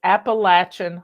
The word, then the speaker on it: Appalachia: peta's YouTube channel is Appalachian Homestead and she pronounced it apple apple Appalachia but you'll find her